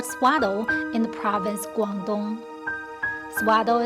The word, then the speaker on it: Swatow: in the province Guangdong suada is pronounced in local dialect on January the 1st